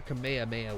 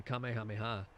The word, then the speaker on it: Kamehameha: But obviously, when the Japanese read it, and when the English read it, they put the ha, because that's how that is written and phonetically spoken. If I'm not mistaken. The Kamehameha.